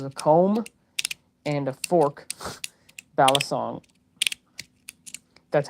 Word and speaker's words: balisong: It was a comb and a fork balisong that's how you say it.